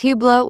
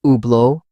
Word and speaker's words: Hublot: Some pronounce Hublot with a strong T. The French pronunciation drops the T, making it Hublot.